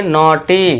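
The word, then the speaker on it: naughty: यहाँ देखिए एन के लिए ना हो जाएगा, ई यू के लिए हम लगा देंगे ऊपर चंद्र बिंदु अ, इसके बाद GH ये साइलेंट रहेगा और TY के लिए बड़ी की मात्रा ट के ऊपर, तो ये हो जाएगा नॉटी।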